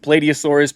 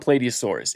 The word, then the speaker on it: Plateosaurus: Welcome to the many interpretations of Plateosaurus, or Plateosaurus. I personally pronounce it Plateosaurus, but Plateosaurus works just as fine.